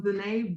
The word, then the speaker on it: ZaNai: Yeah, so ZaNai Brooks, ZaNai like Renee with a Z.